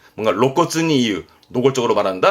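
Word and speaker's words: 露骨: 그래서 발음은 로시츠처럼 드러냄도 쓰는 게 이 로자입니다. 그래서 노골적이다 하는 게 로코츠입니다. 로코츠. 뭔가 로코츠니 이유. 노골적으로 말한다 할 때 로코츠.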